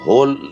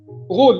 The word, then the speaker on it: غول: ایک جن ہے, ہول, کیا اس کا تلفظ ہے صحیح؟ غول، اس کو غول کہتے ہیں، غول. غول، اچھا مطلب یہ یہ عربک ایکسنٹ نیم. جی یہ غین باؤ لام، غین باؤ لام.